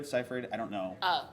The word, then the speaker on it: Seyfried: her I think she's a phenomenal actress Amanda Seyfried seifried I don't know how to say her name